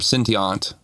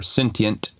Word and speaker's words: Syntiont: But yeah, technically you can pronounce this name sentient or sentient. It's based off that word and symbient kind of merged together.